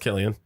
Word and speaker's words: Cillian: It's Because over the it's spelled with K. a C, right? Yeah, it's Cillian. Yeah, but that was pronounced Killian.